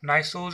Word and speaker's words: gneiss: Fifth one is gneiss structure. This starts from G, but it is silent actually. So gneiss structure is a banded structure.